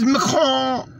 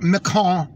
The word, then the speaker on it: Macron: Francis Macron, right?